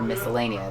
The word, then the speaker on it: Miscellanea: Like as far as videos for the new, the video for Miscellanea. That's how to pronounce it, correct?